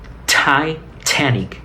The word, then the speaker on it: Titanic: eh darse cuenta del sonido Real de la t Titanic Titanic no Titanic sí no es tita es Titanic Titanic Okay la palabra de